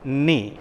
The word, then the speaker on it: knee: got four letters and which is the first sound k no is silent right you know that now the first sound is na and the second sound is e so though the word